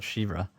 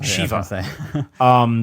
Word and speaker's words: Shiva: Pronounce it Shivra. Shiva. I don't know. That's another. I think I got it confused with the company Shinra. Yes, Shiva.